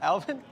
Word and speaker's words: Alvin: Alvin, okay. Yeah, It always sounds like you say Elvin. I think he does. Say what? What do you think I said? Elvin. Alvin?